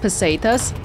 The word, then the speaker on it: pesetas: think it's actually um someone mentioned that it's pronounced pesetas I've been saying it wrong the whole time I uh formally